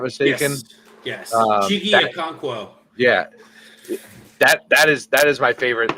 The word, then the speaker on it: Okonkwo: I think it's Okonkwo, if I'm not mistaken. Yes. Chigi Okonkwo.